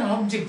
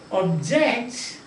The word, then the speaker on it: object: the proposal is an object we get and the third one you see so when you say object that is verb object is known now when you change this